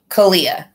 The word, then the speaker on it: Caliyah: CALIYAH.